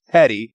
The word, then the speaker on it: petit: dictionary right now teddy is spelled PE TI t but it's pronounced petty PE TTY well then why is